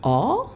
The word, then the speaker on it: awe: Les chercheurs américains donc, appellent ça le awe. Ça s'écrit A-W-E. Oh, moment. Voilà, comme awesome. Voilà.